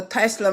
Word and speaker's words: TZLA: But no, it's called the Tesla machine, but it's spelled TZLA.